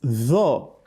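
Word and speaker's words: ط: Tho is a heavy letter. The back of the tongue rises up when you pronounce tho, whereas that of ta, it doesn't do so.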